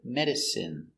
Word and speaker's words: medicine: take a closer look our first example medicine pronunciation is in medicine medicine medicine is not